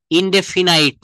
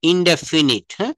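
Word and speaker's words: indefinite: ইনডেফিনাইট না। ইনডেফিনিট। আমরা right প্রোনাউন্সিয়েশনটা শিখবো।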